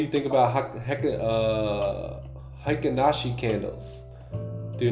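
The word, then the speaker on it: Heikin Ashi: they are what how do you say it hakashi you you nailed it yeah that was yeah hakashi candles hiashi candles yeah I mean I've seen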